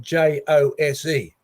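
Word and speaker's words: José: a couple of examples if you met a spanish waiter on a tv show and his name was spelt j-o-s-e how would you pronounce it jose of course right jose no doubt about that what you'll find is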